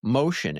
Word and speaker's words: Mocean: And we got to say that Motion is spelled Mocean. So Correct. not the typical way you'd spell motion as in like moving.